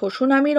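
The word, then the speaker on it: tsunami: সুনামি যদি টিকা হিসাবে আসে বা প্রশ্ন হিসাবে আসে, লিখব অর্থ, সুনামির অর্থ কি? না, জাপানি শব্দ এটা সুনামি, এখানে টি কিন্তু সাইলেন্ট, অর্থাৎ টি এর কিন্তু উচ্চারণ হবে না, ওকে।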